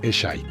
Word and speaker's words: Eshe: Un pequeño detalle curioso para los australianos es que uno de los personajes se llama Eshe y se pronuncia Eshy.